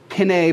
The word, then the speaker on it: pinnae: Anyway, the pinna, which the singular is pinna, the plural is pinnae, but apparently pronounced pinna as well.